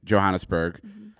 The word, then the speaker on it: Johannesburg: We landed in Johannesburg, and Took I always three say planes to get that there?